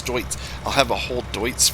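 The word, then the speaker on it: Deutz: i'll have all deuts i'm saying it right it's not dudes it's joints i'll have a whole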